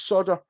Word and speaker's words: solder: in some of America it's solder not Sal or even solder I could totally understand but it's not solder so it's like a silent L Americans aren't good at